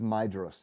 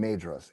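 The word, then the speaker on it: Maedhros: has made clear before, he mispronounces Maidos throughout the entire book. He calls him Madros every single time.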